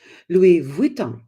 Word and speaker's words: Louis Vuitton: in there too and I found out it's Louis Von Von do you love